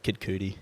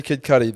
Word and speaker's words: Kid Cudi: kid cuddy too but what did i say kid cootie did i yeah oh yeah it's definitely sorry